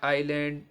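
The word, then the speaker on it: island: यू ई ST quest अगर आई अगर आई और एल के बीच में अगर एस आ जाए तो वहां पर क्या है एस साइलेंट रहे जैसे आ आइलैंड आईलेट ओके अच्छा तो अब यहां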